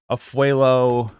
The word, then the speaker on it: Afualo: out I like it it's drew a fuelo no atholu how do you pronounce it drew a fuelo Pro pronunciation oh that's kind of